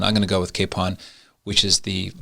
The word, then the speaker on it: Kapaun: the name pronun pronunciation it's a Czech name which is pronounced Capon I believe many of